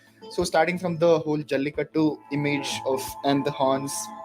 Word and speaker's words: Jallikattu: That is how it's pronounced? Yes, Jallikattu.